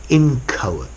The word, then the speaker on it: inchoate: really organized okay so inchoate a formal word notice as well the pronunciation I know it's got an H but it's silent inchoate you would have an